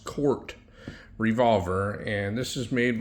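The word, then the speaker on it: Korth: It's not Court, it's pronounced Court revolver, and this is made by a company that was started in 1954 by a gentleman named Willie Court.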